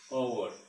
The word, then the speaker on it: hour: repeating now again, see, N is used before a word starting with H, H, and their pronunciation starting with A or O sound, that is, you are late by an hour.